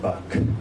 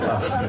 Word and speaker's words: Bach: And it's not pronounced Bach. That's what Americans say, but sorry. It's called Bach.